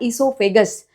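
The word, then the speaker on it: oesophagus: Spelling पे ध्यान दो। ओ से स्टार्ट हो रहा है। ई से स्टार्ट नहीं हो रहा। ओ साइलेंट है नाम पे।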